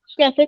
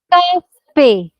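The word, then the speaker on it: café: Exception 1, if a word ends with E and this matra over it, we do pronounce it. Cafe. A ki matra. Cafe.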